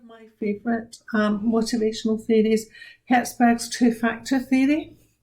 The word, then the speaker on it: Herzberg: favorite um motivational theories herzberg's two-factor theory please be careful when you're writing hetzberg's name that you spell it correctly there is no t in his name so herzberg as the name suggests